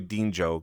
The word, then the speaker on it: Dinjo: I'm sure at some point in time I'm just gonna call you Dinjo because I know that's kind of how it's pronounced.